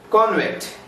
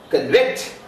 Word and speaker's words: convict: Convict. The stress is on first syllable. Convict. The stress is on second syllable.